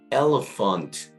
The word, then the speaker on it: elephant: 또 코끼리도 ELEPHANT입니다. 그래서 이때도 PH가 F 발음이기 때문에 elephant 그래서 이때도 F 발음으로 발음해 주시면 될 것 같아요.